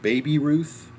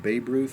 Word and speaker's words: Baby Ruth: It was called Baby Ruth, not Babe Ruth. But how's it spelled? BABY. There are certain pronunciations where the Y is silent.